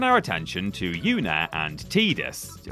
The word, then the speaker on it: Tidus: We're sticking with heartwarming couples for the moment as we turn our attention to Yuna and Tidus. Or Tidus, if you want to get wrong pronunciation about this.